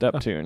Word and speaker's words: Uptown: I like how it says how to pronounce Uptown. Huh? Uptune. Uptune. Uptune? Okay, it's pronounced Uptune.